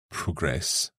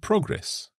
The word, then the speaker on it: progress: noun present so there the stress changes just like progress and progress that's right so Josie